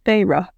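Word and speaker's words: Feyre: to practice that like Farah faca no I think it's Farah well that's yeah if you like she made fun of her sister for draging you know both syllables of her name she was like farra but she helped me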